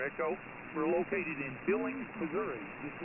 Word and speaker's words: Missouri: Missouri, that's how it's pronounced, Dave.